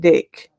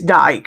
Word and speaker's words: Dyke: I for some reason I called it dick because it's got Dy c k but it's Dyke apparently um but it's